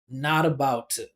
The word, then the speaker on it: not about to: We got two stressed syllables here. We got not and bout. The other syllables are unstressed, so we're turning them into schwas. So if you listen the way I pronounce it, it sounds basically like this. Listen to this. Just use your ears. Don't stare at the words. Listen. Not about to.